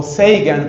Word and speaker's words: Sagan: Carl, Sagan o Seigan pronuncian otros. Se escribe Sagan.